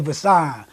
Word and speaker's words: Visaughn: A Visaughn, it just pronounced like VISION.